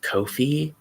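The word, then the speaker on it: Ko-fi: but um I've also seen it as Kofi because it's supposed to rhyme with no fee because there's no fee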